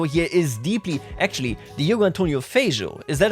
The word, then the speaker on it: Feijó: I was told that the J, so the J in Portuguese, is very similar to the French J, like je m'appelle, so Feijó, is that correct?